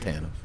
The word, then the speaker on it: TANF: Pronounced TANF.